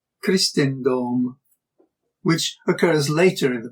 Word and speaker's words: Crisstenndom: For example, the long E of Christus contrasts with the short I of Christendom, which occurs later in